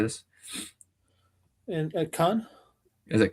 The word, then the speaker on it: Caen: And at Khan? Is it Caen?